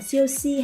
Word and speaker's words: 休息: Chiêu thiên, 秋天全套全套白酒白酒休息休息 Thì nhớ là cái từ si cuối cùng này nó mang thanh nhẹ nên mình sẽ không đọc là siêu si hay siêu si.